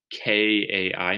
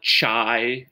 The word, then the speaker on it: chi: to spell that phonetically k-a-i maybe chi squared don't call it chai or chi or something like that it's kai so make sure you're saying that correctly the symbol for chi-square